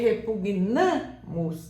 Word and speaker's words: repugnamos: Porque quando você fala repugnamos, aí a sílaba tônica não vai ser mais o pu, vai ser repugnamos, namos.